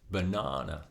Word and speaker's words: banana: For example, in the word banana, we stress the second syllable, na, banana.